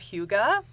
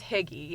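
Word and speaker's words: hygge: have ever heard of the concept of Huga sometimes it's mispronounced as piggy h y g g e um it's a Scandinavian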